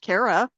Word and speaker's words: Cara: My name is pronounced Carara.